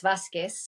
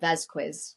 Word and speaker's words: Vazquez: what do you In get when Spanish, it's Vasquez. Vasquez? Uh-huh. Yeah. Vazquez. But in English, I've always pronounced it Vazquez because it's spelt with two Z's.